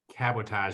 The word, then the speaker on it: cabotage: very first line was not to be confused with sabotage so i went with